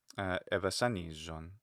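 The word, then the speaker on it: ἐβασάνιζον: But the zeta is geminate. That's important. So evasanijon.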